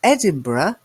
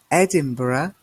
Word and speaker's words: Edinburgh: of Wales and Scotland is a country and Edinburgh did you spot the pronunciation there Edinburgh is the capital of Scotland and then we